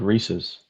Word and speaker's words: Reese's: You said Reese's. If you say Reese's, you need a phonics lesson. Because if you take away apostrophe S, you don't call it a Reese. It's Reese. Or it's not Reese's Pieces or Reese's Pieces.